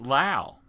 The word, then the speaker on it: Lowe: So within you're looking in a local area, for example, my name, Lowe, north of the Ohio River, often is pronounced Lau. Okay? It's more of a German reference.